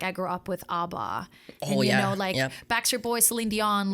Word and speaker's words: ABBA: Damn, I've been pronouncing it wrong. I've always thought it was like ABBA.